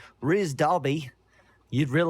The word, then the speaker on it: Rhys: like yeah exactly exactly it's rizz rizz darby oh he is an